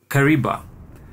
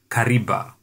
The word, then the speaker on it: Kariba: However, the complex pronunciation of the V in Kariba saw the Italian constructors produce a sound much like a B, hence the creation of the word Kariba.